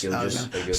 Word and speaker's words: Gilgeous: We get Shy and like Shy Gilgeous Alexander. Is that how you say it right? Side Gilgis. Gilgeous.